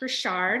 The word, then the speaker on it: Richard: For those of you, it says my last name is pronounced Richard.